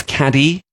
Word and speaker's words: Cádiz: He made a visit down to Cádiz in the south of Spain, spelt Cadiz for us English people who can't pronounce it properly, but I was informed reliably that it is Cádiz, which I was informed reliably when I was on a walking tour there.